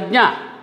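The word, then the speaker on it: ज्ञ: This is pronounced as jna. Jna. This letter is pronounced as jna. This is formed of ja, na, jna.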